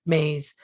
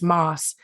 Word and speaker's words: Maas: And for those of you who knew Lisa after she was married, you will recognize our local pronunciation of her married name. The media has long pronounced her last name as Maas, and over the years,